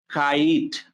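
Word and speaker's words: kite: কিন্তু আমরা বলছি কি কাইট তাহলে এখানে আই এর উচ্চারণ হচ্ছে আই কাইট তাহলে আমরা এইটা খুব ভালোমতো মনে রাখতে পারি লাস্টে silent E make ইট long তাহলে আই এর দুইটা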